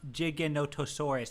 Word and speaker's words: Giganotosaurus: it okay Kibbles thank you I think it's pronounced Giganotosaurus yes it is pronounced that it is 100%